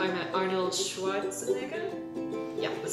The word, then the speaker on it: Arnold Schwarzenegger: So, in last week's video, I talked about how I met Arnold Schwarzenegger?